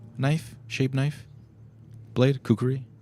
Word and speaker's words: kukri: Uh a jewel jeweled hilted kukri knife shaped knife blade. Kukuri, right?